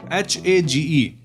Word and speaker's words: Hage: H-A-G-E. H-A-G-E. I know, Hage village is the pronunciation.